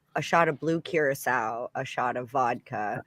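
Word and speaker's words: Curaçao: a shot of blue curacao a shot of vodka how do you say curious now we always call it caraco is both it's whatever part of the country you're from what's that it's it's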